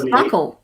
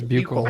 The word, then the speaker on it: buccal: Oh, I hate people who say buccal swab. That's the way you pronounce it. That's buckle. Okay. No. It's buccal. It's the correct pronunciation.